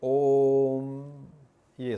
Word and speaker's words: ओम: इसका मतलब है कि 'ओ' का उच्चारण तीन अक्षरों तक करें और फिर 'मा' कहें, इसलिए ' ऊम' सही तरीका है।